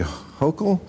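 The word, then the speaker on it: Hochul: of how mayor Eric Adams and Governor Kathy hokel oh yes yes you pronounced it right I take it you're a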